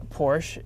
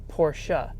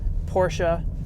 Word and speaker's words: Porsche: correct way to pronounce Porsche is actually Porsche so that little sche on the end is actually pronounced so Porsche is the correct way